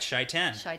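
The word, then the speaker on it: Shai'tan: credit for this one sure chaitan that's correct shaitan yes okay so lou says something about shaitan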